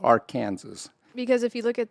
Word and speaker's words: Arkansas: It is strictly prohibited to pronounce the state's name, Arkansas, incorrectly. This is Arkansas.